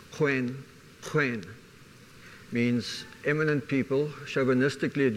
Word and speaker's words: Khoekhoen: It would generally in newspapers be spelled Khoekhoen. That's the proper spelling and the pronunciation, and I'll stay with Khoi just for sake of intelligibility, is Khoekhoen.